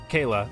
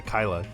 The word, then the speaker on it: Kayla: long second Lieutenant K Kayla I keep wanting to say Kyla cuz I know a character that's written that way spelled the name is spelled that way but said Kyla uh her C accompaniment